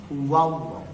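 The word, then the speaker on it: الله: Maka lamnya pada kata Allah dibaca tebal. Huwallah. Ingat ya, lam pada kata Allah bisa dibaca tebal, bisa dibaca tipis. Yang sekarang dibaca tebal dulu itu. Sebelum kata Allah tanda bacanya a. Huwallah. Maka lam pada kata Allah dibaca tebal atau tafkhim atau taglis, sama.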